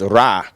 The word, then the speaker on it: Ra: which indicates the Sun and that is pronounced as ra which means sun and then we have